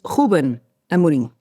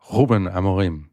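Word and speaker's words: Rúben Amorim: So there is nobody in the world better equipped to explain Ruben Amorim. Am I pronouncing that right, Raquel? You're not doing a bad job, but it's Ruben Amorim. Ruben Amorim.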